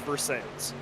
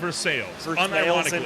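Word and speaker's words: Versailles: not Milan it's milin it's not ver it's versales seriously I'm dead serious is actually called versales unironically versales Indiana I've stoed one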